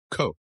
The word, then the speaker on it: Koch: This name contains a sound that does not exist in the English language. Koch. In America it became Cook and and and Coke pronounced by its owners as Coke.